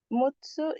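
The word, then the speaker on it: 六つ: Hai roku atau enam itu cara bacanya bisa ru, bisa juga muts, bisa juga rokok. Roku, muts, roko. Mutsu itu enam buah.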